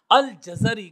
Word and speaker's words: الجزری: جزیرہ کی طرف ہے۔ الجزری کا تلفظ ہم نے عرض کر دیا ہے کہ جیم کے اوپر بھی زبر ہے، را کے اوپر بھی، جیم کے اوپر اور زا کے اوپر زبر ہے، اور جو اس کے